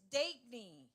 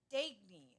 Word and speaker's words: Dagny: It's Dagny, right? Okay, Dagny. Let's hear it for Dagny. Pronounce the A like day. Dagny.